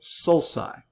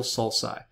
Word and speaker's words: sulci: Several of those are called sulci. So you've got one sulcus, several sulci. The hard C followed by U becomes a soft C when it's followed by I.